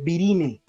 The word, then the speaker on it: virinae: La A tampoco suena, se escribe virinae, se lee virine.